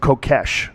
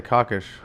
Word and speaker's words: Kokesh: supplements your last name i pronounce it kokesh right i don't want to this up as long as you don't say cockish i wouldn't say that